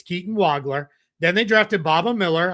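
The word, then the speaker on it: Wagler: Yes, that's how you say it. Is not Waggler. It's Waggler. I promise you is also not Vogler as some have tried to kind of make it out like he's this German kid.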